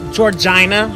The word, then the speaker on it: Georgina: It's Georgina. Rhymes with vagina.